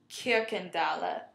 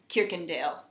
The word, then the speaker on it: Kirkendale: So, for example, Catherine's last name is Kirkendahle. Yeah, Dahle. Instead of Kirkendale, as we would say. There are no silent E's at the ends of words.